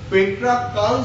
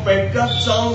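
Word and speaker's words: Petrarchan: পেট্রাকান sonnet বা পেট্রাকচান sonnet. উচ্চারণটা আমরা করি দুরকম ভাবে।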